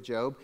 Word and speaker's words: Job: Bible there's a story of this man named Jobe if you're familiar with scripture if you grew up in church you probably know there's a little bit about the story of Jobe if you're new to this Christian thing then